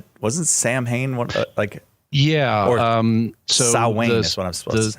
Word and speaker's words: Samhain: I know it's spelled Samhain, but it's pronounced Samhain.